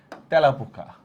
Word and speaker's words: তেলাপোকা: তেলাপোকা, এই ধ্বনিটা এর মতো উচ্চারণ হয়, তেলাপোকা, অ্যাপল টাইপের।